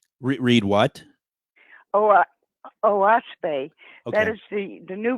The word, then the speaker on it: Oahspe: It's spelled Oahspe, and it's actually 3 syllables, which stands for earth, sky, and spirit. O is sky, is earth. That's an Algonquin word. Sure. And spe is spirit.